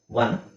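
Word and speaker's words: one: common it's ಏನು uncommon ಓ ಇದೆ ಇದನ್ನ ಡಬ್ ಅಂತ ವ ಅಂತ ಹೇಳಬೇಕು ನಾವು ಒನ್ ಸಮ ಒನ್ ಎನಿಒನ್ ನೋ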